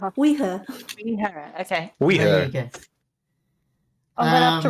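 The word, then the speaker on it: Oidhche: supposed to be pronounced it's spelled o-i-d-h-c-h-e yeah but it's pronounced like we and her we her okay I'm gonna have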